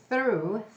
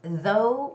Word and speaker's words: through: And when you're reading the word through, make sure you don't get it confused with though. It's though, it's not though here, but it's through our show, through our show.